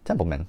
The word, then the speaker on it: Templeman: of course produced by Ted Temple or yeah templeman I said it right I can I say